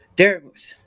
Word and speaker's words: Darachat: Now, obviously, the E is silent, but it still carries that mooth sound from vermouth, right? Yeah. So, and I just thought, it looks like mouth, but it's not like that.